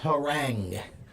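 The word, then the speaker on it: harangue: It's pronounced herang.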